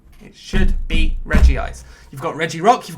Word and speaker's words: Regice: do it which is where it should be Reggie ice even though it's now regice it should be Reggie ice you've got Reggie Rock